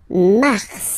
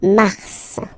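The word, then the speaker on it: mars: it's an exception because normally final s is not pronounced in French okay we've got some exceptions this one is one of them so Mar pronounce the final s mar mar okay then ail ail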